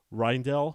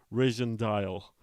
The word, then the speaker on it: Rijndael: was reading it as r dial yeah a lot of people say that so you've you've got it the the J is silent it was a lot